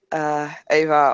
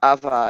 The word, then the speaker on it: Ava: And sure, because Ava, or Ava as it is really actually pronounced, is in the common area as well, which is rare the last few days.